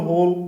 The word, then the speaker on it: whole: These two words are pronounced same, though they are different in spelling and meaning.